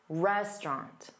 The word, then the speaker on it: restaurant: So this word, restaurant, is more than 2 syllables. So there will be a stressed sound and an unstressed sound. Dada, restaurant, restaurant.